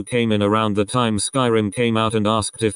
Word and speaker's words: Skyrim: a guy who came in around the time Skyrim came out and asked if we had the new Elder Scrolls game I said oh you mean Skyrim he laughed condescendingly and said no I mean scrim thinking he was just mistaken I was like